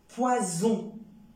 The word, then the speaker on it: poison: automatiquement le sens mais j'obtiens aussi le son e avec un S au milieu de deux voyelles comme raison poison raison un seul s au milieu de deux voyelles comme le i le haut le a le U le U ça donne le son ze raison poison si jamais